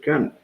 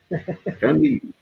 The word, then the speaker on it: Camus: E Barrabás diz, fiquei sabendo hoje que Camus pronuncia Camus. Camus.